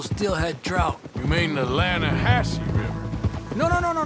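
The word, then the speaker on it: Lannahechee: The other day, I rode down to the Lan a Hechi River. I caught some beautiful steelhead trout. You mean the Lana Hatchi River.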